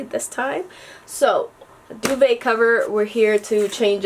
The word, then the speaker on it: duvet: not saying it right it's a French term she says and it's called a duvet so yes I was